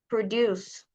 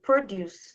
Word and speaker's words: produce: So you see here the stress here, the stress is on the first syllable. Produce. It's a noun which means fruits and vegetables. And the next one is produce. The stress is on the on the second syllable which is a verb and it means to